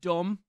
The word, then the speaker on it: dumb: Hard sounding, like D, C, K, ironically, B in the word dumb. The B is silent, whereas soft-sounding vowels normally don't have that reference to being silent because they're soft letters.